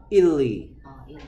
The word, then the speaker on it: Italy: 이탈리. 우리는 이탈리아라고 하는데, 원래 영어식 발음은 이탈리.